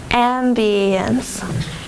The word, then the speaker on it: ambiance: syllable has the accent Ambiance Ambiance there are three syllables and the first syllable gets the accent spite spite yeah and